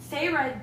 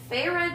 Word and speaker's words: Feyre: all right um summary feyre disobeys orders from tamlin and returns oh sorry i can't speak pharah disobeys orders from tamlin and ventures into callan